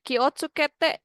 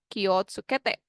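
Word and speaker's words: 気をつけて: C adalah " kiosukete". Ki o, meskipun dibaca sebagai "wo", ditulis sebagai "wo" tetapi dibaca sebagai "o", benar. Kyosukete.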